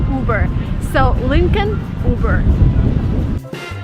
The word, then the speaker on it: Uber: you burn it again you do not follow American pronunciation rules here you just say uber so Lincoln uber